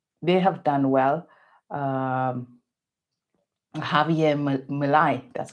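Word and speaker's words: Javier Milei: Um Javier Malai, that's how you say his name.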